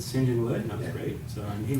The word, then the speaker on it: St John's Wood: there the Rolling Stones record where MC Jagger pronounces it singen wood so we called it we called band singen wood and uh Gordon came over and and interviewed